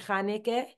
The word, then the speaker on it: Hanukkah: being able to see why we pronounce it chanike. You know, even though it's spelled Hanukkah, you know, things like that.